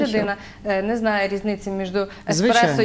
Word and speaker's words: еспресо: По-перше, про те, як вимовлялося експресо, хоча вже всі знають давно, що експресо – це не кава, а кава – еспресо.